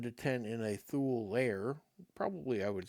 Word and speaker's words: Thoul: a fun one THU I always call it THU uh like ghoul but th but it could be thou admittedly and I don't